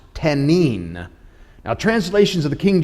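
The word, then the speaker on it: תנין: It's the Hebrew word for dragon is the word pronounced tenin.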